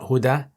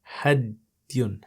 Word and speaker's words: هدي: Okay, so it's pronounced not Huda, Hadiyun, Hadiyun.